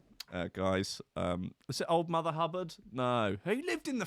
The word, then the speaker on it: Hubbard: She's only called Hubbard. I've never met anyone called Hubbard. I mean, that's only because it rhymes with cupboard, right?